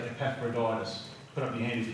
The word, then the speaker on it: Epaphroditus: need to do some brushing up on some pronunciation. I've heard people say Epaphroditus. Put up your hand if you say Epaphroditus. Okay, so we're going to say it right from now on. Okay, you with me? Epaphroditus.